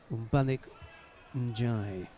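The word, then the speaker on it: Mbagnick Ndiaye: We spoke with a referee from Senegal this morning about how to pronounce his name. Umbanik Njai, she told us.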